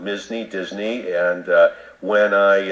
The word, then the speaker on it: Misny: mney people butcher it they'll say okay it's blizzle blizzle and I say it's mney as an M mney as in Disney but with an m